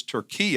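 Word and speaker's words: Türkiye: And as you can tell here, they don't spell it or pronounce it Turkey. It's Turkey, and this is a shirt from Ephesus.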